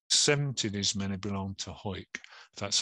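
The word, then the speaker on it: Hawick: wounded only over 17 is many belong to hoik that's how you pronounce it and that is actually there in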